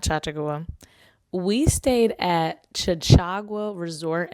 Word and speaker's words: Chachagua: That was before they told me the correct way to pronounce it. It is Chachagua Resort and Hot Spring.